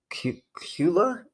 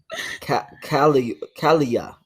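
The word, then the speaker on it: Daniel Kaluuya: His name is Daniel Kula. That's how you say it? Kalia.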